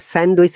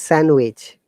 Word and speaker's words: sandwich: It is not sandwich. It is sandwich.